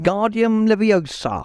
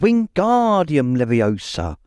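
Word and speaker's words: Wingardium Leviosa: much more luck when guardium leosa he shouted waving his long arms like a windmill you're saying it wrong Harry heard hermani snap it's Wing guardium Leviosa make the G nice and long you do it then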